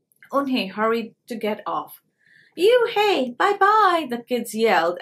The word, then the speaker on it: Unhei: asked onhei said unhei une the girl asked scrunching up her face some kids chanted no no on hey corrected it's spelled u-n-h-e-i it's pronounced oh it's you hey like you hey what about hey you